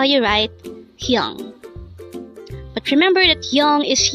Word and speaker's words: 형: Hyung. Hyung. This is composed of just one syllable. Pronounce it with me. Hyung. Hyung.